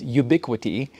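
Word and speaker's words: Ubiquiti: right so the company that makes it is ubiquity they spell it all funky Ubi q-u-i-t-i and then the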